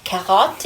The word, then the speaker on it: carotte: It's hard too because the R's in French, when you pronounce an R in French, it's at the back of your throat. Like when you say carrot, carotte, it's at the back, right?